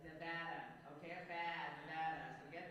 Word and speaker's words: Nevada: don't say well first of all y'all it's Nevada not anything else not Nevada not it's Nevada okay bad Nevada so get that right and